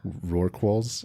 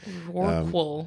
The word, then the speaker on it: rorqual: Rorquals. Rorqual?